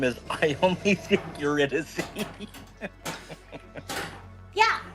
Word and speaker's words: Eurydice: Yeah, Eurydice. Dissy is the pronunciation.